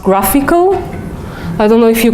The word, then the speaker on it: GraphQL: this is called the it's written a grassy QL but it's pronounced graphical I don't know if